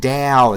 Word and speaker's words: Tao: river feed Are you seriously I know it's pronounced Dow that's a joke ta it's pronounced ta a o Tao yes I know I know there's a lot